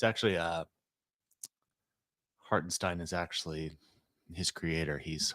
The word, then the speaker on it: Hartenstein: in high school was if it's EI you pronounce the second letter IE you pronounce the second letter it'sin it's actually uh hartenstein is actually his creator